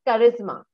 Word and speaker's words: charisma: So it's charisma, the correct word. Charisma. Okay. Charisma, the correct pronunciation.